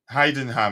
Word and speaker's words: Heidenheim: them how' you pronounce that Dante is it hay them or what big up big up big up man how how are you doing man hien ham okay Heidenheim yeah it sounds more like it like hoffenheim